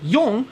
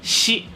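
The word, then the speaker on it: 四: In Japanese, the number 4, pronounced yon, can also be pronounced as shi, which is also the word for death in Japanese.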